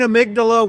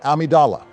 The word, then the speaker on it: Amidala: with the political discussions were great too Queen amydala was fair and balanced as a leader as far as I'm concerned you had your amydala removed when we made the Metroid tier list it's pronounced Amidala damn Barry and they say I'm the one